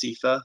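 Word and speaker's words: SEFA: uniform guidance audit report often called s e f a which is typically pronounced cepha if you're if you're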